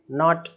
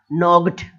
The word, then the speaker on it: naught: GH या GHT आ जाए तो GH जो है वो साइलेंट हो जाता है, लड़ाई करना। अब लिखा हुआ है नॉट, नॉट शून्य, नॉट NAUGHT, तो नॉग्ड इस तरीके से, फाइग्ड इस तरीके से, GH